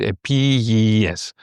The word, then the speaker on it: Επίγειες: Επίγειες needs a little bit of care when you pronounce it, right? Because you have lots of E's, and particularly you have this long E, yes, right? Επίγειες. So try to get this right.